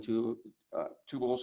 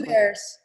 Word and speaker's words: Two Bears: And I got a call from Allison Tubals from the, is that her correct name? Am I saying it correctly? Two Bears. Two Bears, that's right.